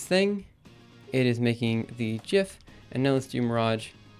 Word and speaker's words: GIF: gonna pause it oh how about the GIF and GIF thing uh it's a hard G yeah I mean you're